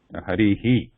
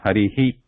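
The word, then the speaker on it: हरिः: It's a very light sound.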